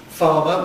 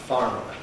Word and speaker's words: farmer: word like farmer, well the spelling tells you and history tells us that it used to be pronounced by all speakers of English with two R sounds in it. So farmer farmer as of course it still is in American English farmer and in Scottish English farmer.